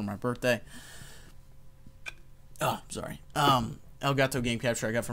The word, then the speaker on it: Elgato: elegato test my Elgato elegato that's not how you say it Elgato game capture I got for my birthday oh sorry um Elgato game capture I got